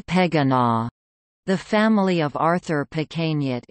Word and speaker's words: Pequegnat: Company advertisements explained the pronunciation of the name as "Say Pequegnat."